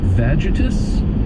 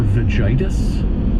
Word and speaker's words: vagitus: Vagitus or vagitis. V A G I T U S.